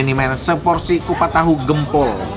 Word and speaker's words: Gempol: Ini dia nih men, seporsi kupat tahu Gempol. Bacanya Gempol ya, bukan Gempol.